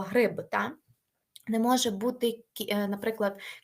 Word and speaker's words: гриб: не може бути ліжко не може бути грип якщо як ми утворюємо від слова гриб та не може бути